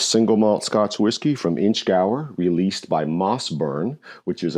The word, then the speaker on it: Inchgower: Is that Inchgower or Inchgower? I have to say Inchgower.